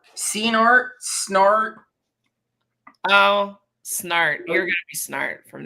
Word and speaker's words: Senart: from now on SN there was a time where I calculated 36 different ways that people were pronouncing my name and I'm like Hooked on Phonics art is the most common followed by Senate which I don't they just don't look at the letters I could see that